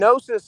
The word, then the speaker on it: Gnosis: Yeah, it's just search electric nosis and nosis is with a silent G on the front of it. So the word electric and then G N O S I S.